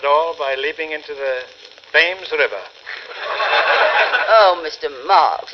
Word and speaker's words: Thames: I shall probably end it all by leaping into the Thames River. Oh, Mr. Marx, it's pronounced Thames River. That's for the stomach, isn't it? I shall leap into the Thames River.